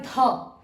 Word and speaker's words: ধ: আর এটা হবে ধ ধ ভেতর থেকে একটা হ এর উচ্চারণ আসবে আর আচ্ছা ধ এখান